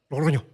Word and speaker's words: Logroño: Logroño.